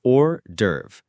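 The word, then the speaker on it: hors d'oeuvre: H O R S D E D S Dash E O E V R E Horse Derve. The IPA is or derve. The S in horse is silent.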